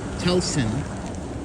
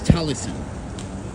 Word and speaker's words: Talison: I've been saying Telson, but it's Talison.